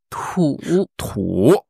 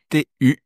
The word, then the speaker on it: 土: T-U, troisième ton. Je pense que c'est pas très difficile pour les Français, la prononciation. Ici, c'est de ne pas lire tu. Ouais, c'est ça. Trou. C'est tu avec ton et trou. Un peu comme un trou, avec un R légèrement moins fort.